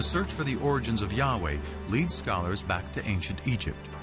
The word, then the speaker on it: Yahweh: would be YH whh which we think were probably pronounced something like Yahweh but Yahweh only appears